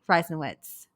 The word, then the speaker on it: Reisenwitz: first time uh welcome to the show Kathy ryen witz did I get that right absolutely perfect absolutely